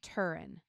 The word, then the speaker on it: Turin: Um, the shroud of how how do you pronounce shroud of Turin? Turin.